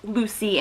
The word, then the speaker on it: Lussi: We follow our main character of Lucy, L-U-S-S-I. I don't fully like spellings like that in books because I always try to read them weird ways, but it is pronounced Lucy in here.